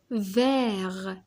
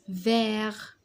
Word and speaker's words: vert: vert vert أخضر. هاد لو تي نكتبوه mais on le prononce pas. on l'écrit mais on le prononce pas. c'est une lettre muette.